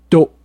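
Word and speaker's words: d'oh: you would say BRR and finally my favorite dope dope which is spelled D apostrophe Oh H this actually comes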